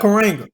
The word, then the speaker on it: Karenga: And I always say his name, the founder of Kwanzaa, Malana Karega. Karenga. Right. Yeah. He said we have to be more of the African in our American experience. Yeah. We Malana can't Karenga.